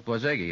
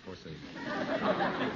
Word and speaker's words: Borzage: Frank Borzage, maybe that's the way it's pronounced. Borzage. Borzage. I think I'm wrong, too. It's Borzage, isn't it? Yes, Borzage. B-O-R-Z-A-G-E.